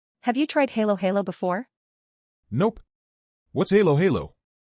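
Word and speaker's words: halo-halo: But first, can you teach me how to say Halo Halo correctly? I don't want to embarrass myself. Haha, no worries. It's pronounced hollow, hollow.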